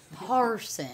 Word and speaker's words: Parsons: Even so, got the S. Parsons. I'm plural, not singular.